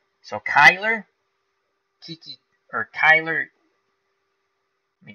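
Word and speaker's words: Cuyler: So, as I mispronounced that poor guy's name, as now Beatles saying Kai, like hi. So Kyler, Kiki, or Kyler, let me go back.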